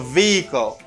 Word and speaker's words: vehicle: where is the vehicle vehicle vehicle vehicle it's very simple vehicle and this letter is silent you don't pronounce the letter h vehicle good and this